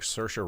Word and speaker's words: Saoirse: Why does she look like Saoirse Ronan? A little bit. But Hey, did you see what it did there?